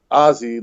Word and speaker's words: Aussie: some aussie slang uh the word pronounced ozzy like ozzy osbourne okay okay hey i